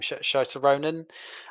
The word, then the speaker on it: Saoirse Ronan: It is Mary Queen of Scots, uh, played by uh, I can never pronounce her name. Saoirse Ronan.